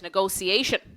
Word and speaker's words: negotiation: word in English because you might think the pronunciation it sounds like there's a C in it negotiation but it's a bit strange because of the T.